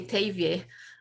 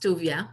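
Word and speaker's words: Tuvia: i know this country in this country we usually say tevye but it was kind of pronounced duvia for his life and as you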